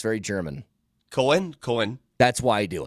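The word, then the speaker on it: Koehn: pronounce it Cohen because in Germany OE is an a sound ah but there are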